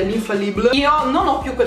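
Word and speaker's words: Infaillible: Poi lei usa, lei lo chiama Infallible di L'Oreal, io l'ho sempre pronunciato alla francese, l'Infallible.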